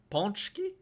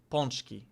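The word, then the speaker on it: pączki: And with beautiful nature coupled with gorgeous architecture, delicious banski and even the best soccer ponchki ponchki beautiful nature coupled with gorgeous architecture, delicious bonski and even am I crazy or did he say it weird?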